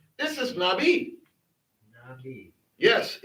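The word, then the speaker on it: נביא: Because the aleph is silent in this word. This is Nabi. Nabi. Nabi. Yep. Nabi.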